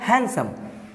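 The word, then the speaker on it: handsome: है वो होता है हैंडसम हैंडसम इसमें डिक को प्रोनाउंस नहीं किया जाता है देखो छोड़ के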